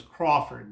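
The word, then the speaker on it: Croffford: His last name was Crawford, but it's C-R-O-F-F-O-R-D, Crawford.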